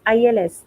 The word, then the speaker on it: ils: ill you know it's ils we don't pronounce s so the pronunciation is same so again i can